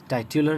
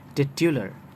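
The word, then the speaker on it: titular: Village, rural, war, martial, टाइटल, टिट्यूलर, यस, टाइट्यूलर नहीं, टिट्यूलर, worth, worthy, watch, vigilant, vigilant, okay, would, सिल्वन, year, annual, zodiac, zodiacal, zenith, जेनिथल।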